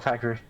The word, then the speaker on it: Pikachu: Is it Pikachu or Pakaru? Pikachu is how I've always pronounced this.